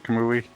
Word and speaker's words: Kamui: Forgive me if did I pronounce that right? Kamui?